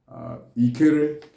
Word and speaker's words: Ikere: That's how it's pronounced. And the Igbo people call it Ikere.